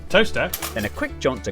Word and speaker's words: Towcester: Mousehole, Next, travel north up to Towcester, Toaster, then a quick jaunt to Gotham, Gotham, followed by a stop in Quernmore, Quormer, before finishing up in Alnwick.